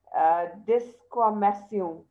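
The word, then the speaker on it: desquamation: Now, this is a French word, you know, which means peeling, okay? So we pronounce it as descamation, okay?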